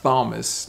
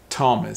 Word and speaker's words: Thomas: which is interesting because a th sounds like a t sound it's not thomas no or thomas or thomas it's thomas so that's very different